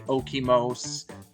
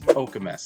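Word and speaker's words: Okemos: o m o s people like to say okos but it it is okus that's how you state that one as well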